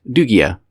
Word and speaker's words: Lugia: In Japanese, the name is pronounced dugia with a soft G sound.